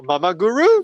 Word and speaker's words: Momoguro: So yeah, they were like Mama Guru, Mama Guru, Mama Guru. And then the Japanese people were all like Momoguro, Momoguro, Momoguro, Momoguro.